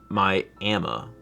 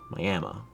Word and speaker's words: Miami: So, oh, like Miami, Oklahoma is pronounced Miami. Miami.